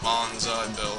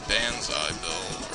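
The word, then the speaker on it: Banzai Bill: so I don't know I know everybody says Bonsai bill and it's actually bansai bill or something so I I'm not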